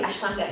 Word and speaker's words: Ashtanga: Okay, Ashtanga. Absolutely, Ashtanga, yes.